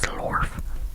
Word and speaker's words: zlorf: Now that I'm looking at the IPA, I'm not pronouncing it right, so slorf, slorf, because the vowel has like little triangles there, so it means it's lengthened, so it should be slorf, slorf, slorf, not slorf, slorf.